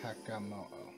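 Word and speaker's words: Hakamo-o: we're taking out the Hakamo'o. I think that's how you say it, as opposed to the Komo'o. Yeah, Hakamo'o.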